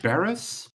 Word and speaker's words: Berez: Barris? Yes, I know for anyone watching at home, if there is one person, I may be butchering that. It's Berez. Is how it's spelled. Berez.